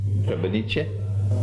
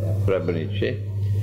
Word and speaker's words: Srebrenica: Srebrenica. That's the correct pronunciation. Srebrenica.